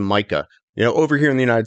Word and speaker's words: Micah: Well, when I first started going over to places, I'm like, no, my name is Micah.